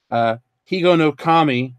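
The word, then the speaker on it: Higonokami: Higo no Kami rhymes with we got slow Kami to open future goodies with.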